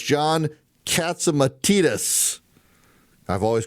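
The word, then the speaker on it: Catsimatidis: worked there for so long he's correcting my pronunciation. So it's Curtis Slaywa and it's John Katsumatitus. I've always called it Catsamatus.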